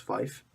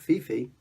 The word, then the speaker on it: Fife: I think it's pronounced Fife. F-I-F-E. Fife, right? Not Fifi.